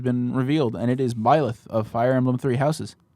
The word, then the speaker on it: Byleth: How'd you pronounce that name? Byleth. Leth. Byleth.